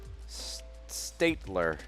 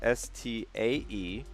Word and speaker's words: Staedtler: I personally, for pens, I really like this brand, Statler. It's hard to. I don't even know if I'm saying it right. It's Staedtler. That's Staedtler. Statler.